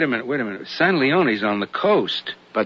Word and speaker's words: San Leon: Rancho San Leon. It's pronounced San Leone. Ain't written that way.